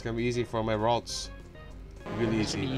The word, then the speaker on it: Ralts: It's like Waltz. Waltz Disney. It's just like that.